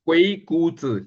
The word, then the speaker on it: Guiguzi: Um this person is Guiguzi.